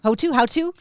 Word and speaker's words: Houttu: Houttu? Yeah, we say Houttu in Finland.